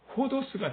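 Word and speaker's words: ὁδός: 에다가 이렇게 쉼표 하나 찍은 게, 위에 찍은 게 히읗 발음이에요. 그래서 요거를 요렇게 되겠죠. 호가 되겠죠. 요거는 디귿 발음이에요. 그 그대로 읽으시면 돼요. 호도스가 되는 거죠.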